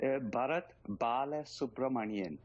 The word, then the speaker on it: Bharat Balasubramanian: Give us the exact pronunciation of your name. Bharat, Balasubramanian.